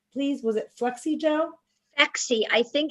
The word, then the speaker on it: Phexxi: Phexi. I think it's spelled Phexxi.